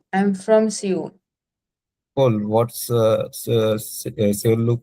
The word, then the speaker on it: Seoul: पहले तो उस word का pronunciation है soul. Seoul. Soul, not soul. Soul.